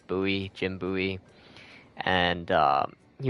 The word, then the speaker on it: Bowie: a buoy knife knife it's spelled Bowie like b o w i e but his name was actually pronounced buoy Jim buy and uh